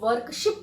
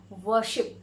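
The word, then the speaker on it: worship: वर्शिप तो कुछ लोग इसको वर्शिप कहते हैं, कुछ लोग इसको वर्कशिप कहते हैं, और इसका सही प्रोनाउंसिएशन जो है वो होता है वर्शिप, ठीक है।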